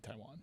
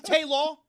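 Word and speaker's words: Tajuan: It can't be Taiwan.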